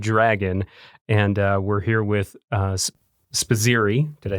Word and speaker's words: Spizzirri: Talon is the animal, and he is a bearded dragon, and we're here with Spizzirri.